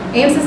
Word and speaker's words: AMSIS: This was the third AMSIS, I'm going to call it AMSIS from now on, so that's how they pronounce the acronym.